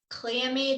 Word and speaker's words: Cleome: So you pronounce that Cleome.